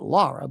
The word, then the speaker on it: Lara: They pronounce it Lara, but it's L A R A.